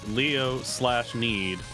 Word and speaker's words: Leo/need: We are currently on Leonid, if you want to explain the Vivid Bats. We are on a Leonid track. The notes say Leo/need. The slash is silent, so note it.